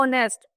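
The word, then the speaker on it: honest: जाता है for example and नेस्ट में एच से शुरू आहा है लेकिन एच क्या है यहां पर साइलेंट है किससे शुरू होरहा ऑनेस्ट ओ हम ड़ ओ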